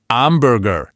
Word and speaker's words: amburgher: He said, "A hamburger," with perfect English pronunciation. The reaction? Just blank stares. "Sorry, I don't understand." It wasn't until we jumped in and said, "Un amburgher," that the light bulb finally went on. Ah, amburgher. That Italianized pronunciation was the missing key.